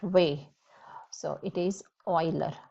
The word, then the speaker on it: Euler: way so it is euler you pronounce it just like oil but euler so it's so interesting